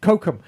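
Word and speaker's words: Cochem: That Oh, uh, that was Kokum. Yes, Kokum.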